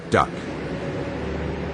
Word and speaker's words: DUKW: The best that the American GI could make of the unpronounceable DUKW was duck. And that was the name that stuck.